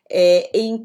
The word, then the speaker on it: e: Eu sou brasileira e a conjunção e em português, embora eu escreva com e, eu vou pronunciar i também, ok?